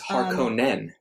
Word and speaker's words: Harkonnen: It's too late for me to start changing the way things are pronounced in my head. Yeah, it's Harkonnen.